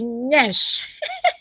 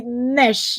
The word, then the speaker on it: Nyash: And if you tell a Caucasian to say, they always say nesh, like they pronounce the air like nesh, like that there's an N there. But if you tell a Nigerian to say nyash, so it sounds like it's a Y.